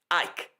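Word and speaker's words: Icke: David Ike and his second name is spelled IC K. Ike. IC K.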